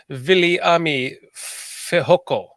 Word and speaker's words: Viliami Fehoko: I like how you pronounce his name too, because when you pronounce a Hawaiian name, you have to pronounce the vowels very pronounced. Viliami Fehoko.